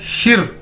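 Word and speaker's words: 十: देखने में लग रहा है शी, लेकिन हमने इसको शी नहीं बोलना, इसको बोलना है शिर, आर साथ में। देखिए इसको प्रोनाउंस करने का, बोलने का तरीका है शिर, समझ ले।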